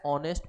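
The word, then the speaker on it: honest: Sentence he is dash ऑनेस्ट politician. अब यहाँ पे देखो फिर से एच है, लेकिन एच होने के साथ साथ यहाँ पे जो उच्चारण आ रहा है वो आ रहा है ओ का, ऑनेस्ट।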